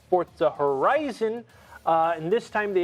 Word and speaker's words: Forza: i found out that it's not you're not supposed to pronounce it forza it's forza uh thank you italy for